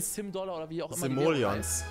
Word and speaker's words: Simoleons: Simoleons spricht man das aus.